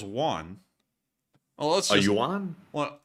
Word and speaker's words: yuan: A yuan? Well, how to pronounce... A wan. Yuan. No, a wan. A wan is Korean. Wait a minute, what? It's a yuan. Yuan.